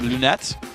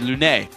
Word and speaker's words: Lunette: surprise Morana away from Lunette ironic I've actually asked him even though you would think with a French player that'd be Lune it's not you pronounce the T anyway anyway Lunette Lunette